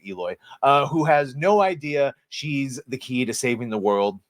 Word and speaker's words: Aloy: Their salvation comes in the form of a young female warrior, just what we need, named Eloy. I mean, it says Aloy, but they pronounce it Eloy, who has no idea she's the key to saving the world.